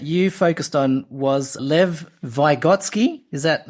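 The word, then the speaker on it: Vygotsky: the person that you focused on was Lev vigotsky is that how you pronounce it that's correct y great and he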